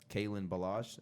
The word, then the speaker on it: Kalen Ballage: The Dolphins also drafted Kalen Ballage. If I'm pronouncing that right?